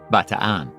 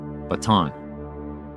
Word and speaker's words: Bataan: That peninsula is called Batan or again as we often pronounce it in the states Baton.